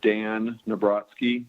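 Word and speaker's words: Dan Nabrotzky: Chair Cohen and members of the committee, for the record, my name is Dan Nabrotsky. That's spelled DANNABROTZKY.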